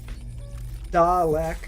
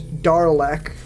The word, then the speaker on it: Dalek: I have thought up until this moment there was Darlek, like D-A-R-L-E-K.